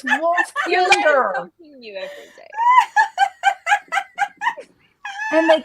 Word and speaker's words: Wolfkinder: The first time I heard you say kinder, I was like, kinder? That's a weird way to pronounce that, Belle. You fucking Tennessee. That's how they say it in Tennessee, kinder.